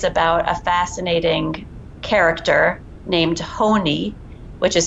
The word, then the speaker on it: Honi: the story is about a fascinating character named Honi which is spelled h o ni and you can google